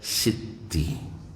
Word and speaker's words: Siti: Ini berasal dari Mesir, istilah Siti berarti sayyidati. Sayyidati, orang Mesir membacanya sebagai sitti. Dibaca Siti, Sayidi, Sidi, ya Siddi, ya Syidi. Lalu jika Sayidati menjadi Sitti, maka ketika sampai di Indonesia, satu huruf 't' hilang.